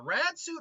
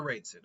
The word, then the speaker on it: Raid Suit: Is it the Rad Suit or the Raid Suit? 1 second. Raid Suit. Suit One Piece? No, yeah, it's the Raid Suit. It is the Raid Suit.